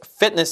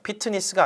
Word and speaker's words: fitness: SPA 여기서도 Sparks Fitness Center, 피트니스가 아니라 fitness 이음절이야. 피트니스 하면 사음절 돼버리잖아요. 우리나라 말식으로 하면 fitness가 아니라 ness.